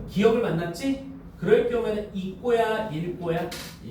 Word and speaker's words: 읽고: 곁받침 리을 기억은 음절 끝과 자음 끝에 자음 앞에서 기억으로 발음하는데 다만 밑줄 기억 앞에서는 리을로 발음한대요.